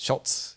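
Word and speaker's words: Schulz: Do that, and I wanted to know the stories now, is it behind pronounced the Schultz or Scholes? It's Schultz, yeah.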